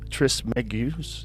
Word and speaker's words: Trismegistus: Though attributed to the legendary Hellenistic figure Hermes Trismegistus.